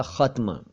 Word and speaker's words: ख़त्म: असल में मैंने बोला तो ख़त्म ही था, लेकिन लिखने में जल्दबाजी में ख़त्म हो गया। उसे ख़त्म समझिए, यानी ख के नीचे नुक्ता आधत्ता म, ख़त्म यानी समाप्त।